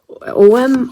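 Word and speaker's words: Ogham: I was talking about the Celtic Tree Divination System, which is Ogum. Oh, that's the one. Where's the word here? It's OM, or I mean, I thought that you pronounce the G, but apparently not.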